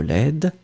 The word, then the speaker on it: laide: Final D is not pronounced at all. But then when it will be the feminine form, you will pronounce the D because you add this laid. So it's really soft, it's not really strong.